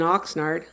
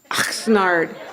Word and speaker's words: Oxnard: She knew what it meant to be from a town pronounced like hawking up a loogie, Oxnard.